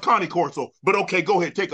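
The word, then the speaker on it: Cane Corso: it originate from the Kango the K the K Coro it's it's pronounced Connie Corso but okay go ahead take off I I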